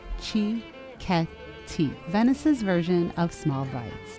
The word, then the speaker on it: cicchetti: This is where we discovered Cicchetti, pronounced Chzhed, Cicchetti, Venice's version of small bites.